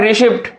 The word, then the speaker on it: receipt: दूसरा लिखा हुआ है रिसिप्ट, RECEIPT, इसमें भी हमने बच्चे को बता रखा है इसमें क्या हुआ साइलेंट है, तो इसमें भी हमारा क्या है साइलेंट, P साइलेंट है।